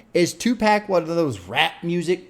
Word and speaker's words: Tupac: I say the word pack. It cracks me up, man. When I see Tupac and I pronounce it pack. Tupac. That's not how you're supposed to say it.